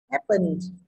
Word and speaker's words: happen: Happen, phần là âm ơ có nghĩa trọng âm rơi về chữ hap, đúng không?